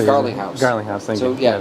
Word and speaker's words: Garlinghouse: Garlinghouse.